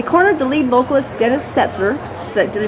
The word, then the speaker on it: Setzer: So we cornered the lead vocalist, Dennis Setzer. Did I pronounce that correctly?